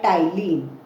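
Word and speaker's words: ptyalin: अब इस सलाइवा में एक एंजाइम होता है जिसका नाम होता है टाइलिन। पी इसमें साइलेंट है।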